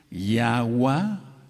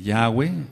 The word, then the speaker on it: Yahweh: Entonces, Yahua la tachamos porque no puede ser el nombre del Todopoderoso, porque Yahweh es varón de guerra. Ahora voy a entrar a cosas profundas ahorita y Egua también lo tachamos, es